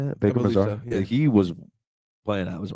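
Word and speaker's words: Baker-Mazara: Baker Mazar is how you say it. Baker Mazar, he was playing out his mind.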